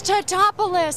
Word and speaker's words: Tatopoulos: I botched it so bad the contestants yelled at me. And they said, it's Tatopoulos. I said, I'm sorry, I can't pronounce it right.